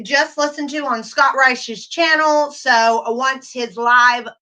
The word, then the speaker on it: Reisch: I'm also going to put the link of the author in the, it's R-I, is it C-H-S, right? Or S-C-H, Reisch. Okay, so that's how you say his name.